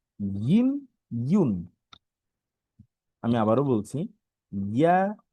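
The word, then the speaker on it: ياء: আচ্ছা, তারপর হচ্ছে আমাদের সর্বশেষ যে হরফটি ছিল ইয়া।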